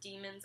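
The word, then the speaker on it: dæmons: or demons er it's it's not spelled like demons but I'm pretty sure it's pronounced demons I always called it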